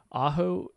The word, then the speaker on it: Ajo: different classes and currently Rodney is living in Ajo Arizona is that right yep yep that's how you pronounce it perfect now Rodney as we get